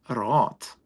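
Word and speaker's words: Raath: R-A-A-T-H. R-A-A-T, Roth.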